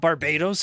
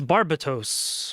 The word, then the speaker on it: Barbatos: I was told that's how it's supposed to be pronounced. People were poser checking me. It's not Barbados, it's Barbatos or something.